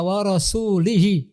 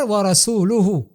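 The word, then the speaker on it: وَرَسُولُهُ: Redaksi yang benar wa rasuluhu. Tiba-tiba ada orang misalnya salah membacanya wa rasulihi. Ini berbahaya. Karena kalau seandainya kita katakan wa rasulihi di sini maka dia menyambung dengan kalimat al-musyrikina. Menyambung hukumnya dengan kalimat al-musyrikina. Jadi seakan-akan kalau seandainya kita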